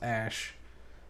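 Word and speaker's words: Æ: This is supposed to be pronounced Ash.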